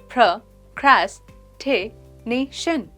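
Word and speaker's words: procrastination: इसकी प्रोनाउंसिएशन है प्रोक्रेस्टिनेशन। ये 5 सिलेबल वर्ड है।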